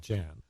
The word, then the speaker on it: Jan: is it's really but nobody knows that how to pronounce it once a while some from people you know will say so how are but uh no one knows I always call it Jan right now because nobody